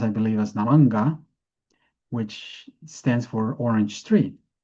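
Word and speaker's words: नारङ्ग: pronounced, I believe, as Naranga, which stands for orange tree. Now, we also know that in naranja sounds very similar to naranja in Spanish, which means orange, both the color and the fruit.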